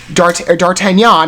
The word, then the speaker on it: D'Artagnan: which at this point dartanyan I believe is the correct pronunciation is just another artist